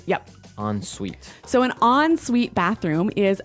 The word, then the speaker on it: ensuite: ensuite bathroom ensuite bathroom unsweet bathroom sorry another note on the spelling here it's e n right hyphen s-u-i-t-e so even though it's e-n we pronounce it like an o-n yep ensuite so an ensuite bathroom